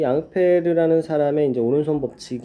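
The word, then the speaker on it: Ampère: 복지 관계에 있었던 거에요 사실 앙페르 는 이제 영어식 발음으로 하는 암페어 예요 우리가 전를 단위가 뭐야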